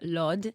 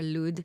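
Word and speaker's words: Lod: aunt who is from Lord um or lud depends how you say it it's a community in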